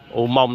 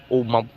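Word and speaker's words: Umong: U Mông đọc là U-M-O-N-G. Tuy nhiên tra trên Google thì nó ra khá là nhiều ha. Đọc sao ghi vậy luôn á. U Mông.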